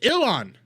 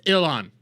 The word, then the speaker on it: Ilhan: Il Han. But you say it all at once. It's Illan.